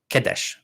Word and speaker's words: Kadesh: So Kadesh is how we would generally pronounce it in Egyptological pronunciation. For the Hittites called it Kinza, but the Egyptians seem to have called it Kadesh or Kidshu, something like that. But somehow that's transformed into Kadesh over time.